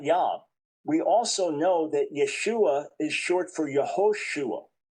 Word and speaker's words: Yeshua: So Yeshua, was it originally uh at the time of Jesus? Was it clearly pronounced Yeshua or was it simply pronounced Yeshua and and the final in ended there? That's the only debate and most degree it was Yeshua with that final a sound, but no argument that